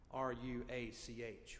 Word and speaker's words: ruach: do the holy spirit in Hebrew is Rock r u a c h Rach I wish I could say it like a Hebrew a Jew ruach it means breath it